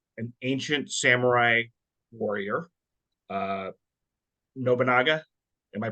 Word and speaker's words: Nobunaga: So, Shoko, this movie is about an ancient samurai warrior, uh, Nobunaga. Am I pronouncing that right? Yes, Nobunaga. That's Nobunaga.